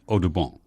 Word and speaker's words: Audubon: a lot of birds John James oton or as his father might have pronounced it Odon the famous artist Frontier